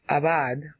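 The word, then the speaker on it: עבד: b a d but the B is really a v there's no doggish in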